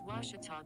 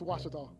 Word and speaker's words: Ouachita: washington how would you pronounce it it's washita baptist university get it right it's watertall people it's washata and welcome back to rav